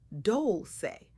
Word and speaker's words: Dolce: I'm your host, Dolci, pronounced dolce, like sweet softness whispered in French.